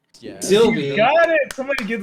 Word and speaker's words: Sylvie: yeah, Sylvie.